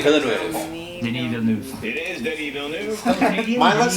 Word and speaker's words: Denis Villeneuve: It is Denis Villeneuve. Mine looks like Penis Villeneuve, but it was, Pronunciation.